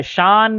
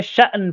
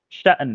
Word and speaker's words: شأن: شان نہیں پڑھنا، اردو میں شان پڑھتے ہیں، عربی میں شأن پڑھتے ہیں، اور کبھی کبھار اس کو شان بھی پڑھ لیتے ہیں، لیکن اس کا اچھا تلفظ شأن ہے.